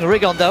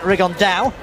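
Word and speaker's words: Rigondeaux: And Tete's talked about fighting Rigondo, or as he's correctly pronounced with the Spanish accent, Rigondao.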